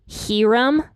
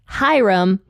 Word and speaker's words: Huram: last week when I was talking about King herum I made two mistakes actually the first being that I was pronouncing his name incorrectly which uh somebody who